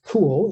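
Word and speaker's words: CeWL: your target that and there are tools like cool it's pronounced cool to actually create these word lists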